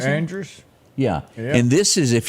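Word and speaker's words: Ingrid Andress: Inga Andrus, how do you pronounce it? Andrus?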